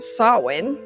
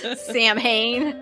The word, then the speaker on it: Samhain: and si well and sawin i almost said it wrong thanks supernatural samhain i'm coming for you kripke you messed me up for years much of what